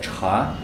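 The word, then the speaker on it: 茶: Нет, это целый иероглиф, который читается чха.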